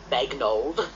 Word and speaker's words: Bagnold: the two this whole idea of the name bagnold and that's how it's pronounced is is one in itself that's quite